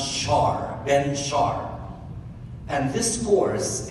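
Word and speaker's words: Shahar: name of ben char it's written s-h-a-h-a-r but it is pronounced shar ben sharp and this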